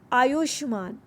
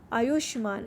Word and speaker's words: आयुष्मान: विशाल काय, आयुष्मान, आयुष्मान, हाफ शब्द को बीच में सॉफ्ट वॉइस में बोलते हैं, आयुष्मान।